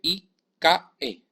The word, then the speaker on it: Ike: Ike se escribe I-K-E. Ike.